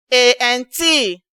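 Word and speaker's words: aunt: A-N-T. Ant. And beside it, you have A-U-N-T. Ant. So, take note that A-U-N-T is not ant. Rather, it is ant. It has the same pronunciation as A-N-T. So, it is ant.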